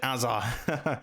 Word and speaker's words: Hazard: That's how the Peter Jury pronounces it, Azza.